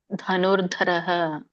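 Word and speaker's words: ಧನುರ್ಧರಃ: ಅವತ್ತೇ ಹೇಳಿಕೆ ಪ್ರಾಕ್ಟೀಸ್ ಮಾಡಿ ಉಳಿದಿದ್ದೆಲ್ಲ ಸರಿ ಇದೆ ಧನುರ್ಧರಹ ಹ ಹರೇ ಕೃಷ್ಣ ಲಕ್ಷ್ಮಿ ಬೇವಿ ಮಾತಾಜಿ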